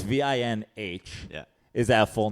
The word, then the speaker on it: Vinh: But it's VINH.